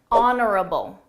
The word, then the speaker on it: honorable: Her speech was genuine, Honorable. Honorable. Notice that silent. H honorable.